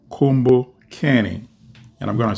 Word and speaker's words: Kumbukeni: at 12 noon and that podcast is called combo canning and I'm going to spell it out for you non-kiswahili speakers so it's k-u-m-b-u-k-e n i kumbokeni is a kiswahili word and it means remember